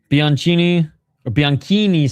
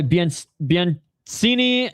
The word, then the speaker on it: Bianchini: Bianchini, sorry. The Brazilian with an Italian name, and the Italian name is not pronounced the way that it should be pronounced. It's basically an English name.